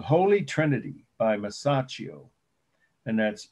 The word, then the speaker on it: Masaccio: called holy trinity by masaccio and that's m a s a c c i o some people say masahio but that's not how you pronounce it's how you spell it it's on your